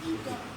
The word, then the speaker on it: Edom: Am I pronouncing that right? First person. Is it correct? Edom? Yes, sir. Edom.